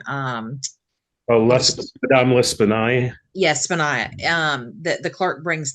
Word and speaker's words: L'Espanaye: clerk bringing the money to, how do you pronounce the lady's name? Madame L'Espanaye.